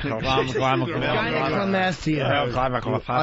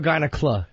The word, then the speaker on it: gynecomastia: Gynecomastia. Uneducated and buffoon. President Bush pronouncing gynecomastia. Is it gyneca or gynecla?